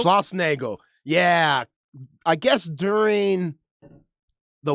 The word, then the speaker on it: Schlossnagle: How do you pronounce Jim's last name? Oh, Schlossnagle. Schlossnagle.